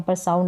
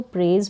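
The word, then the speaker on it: praise: प्रेज करना क्या है प्रेज ज करके एस का यहां पर साउंड आ प्रेस नहीं पढ़ेंगे इसको प्रेज पढ़ेंगे पी आर का उच्चारण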